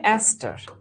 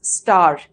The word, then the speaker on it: অ্যাস্টার: সেখানে তৈরি হয় অ্যাস্টার। এটাকে আবার অনেকে খুব মানে একটু ঢং করে উচ্চারণ করতে গিয়ে পরে হচ্ছে স্টার, এটা কিন্তু স্টার না, এটা হচ্ছে অ্যাস্টার।